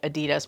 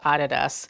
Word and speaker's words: Adidas: way here in the US we're used to pronouncing it Adidas but it's actually pronounced Adidas I really like the Adidas stripe sneaker and